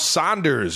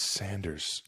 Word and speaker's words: Sanders: Miles Saunders agreed to a four-year deal uh to the Colts.